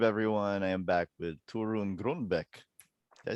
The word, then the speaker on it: Torunn: Torunn, Torunn, we would say, but I mean, no one can say that anyway. Because everyone pronounces it a different way. Well, but there is no English pronunciation of Torunn. Yeah. So, I don't expect people to speak Norwegian.